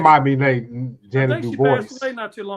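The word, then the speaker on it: Ja'Net: It's JA-NET, yo. Yeah. There it is. Yeah, that's the type. I need to draw. T is silent.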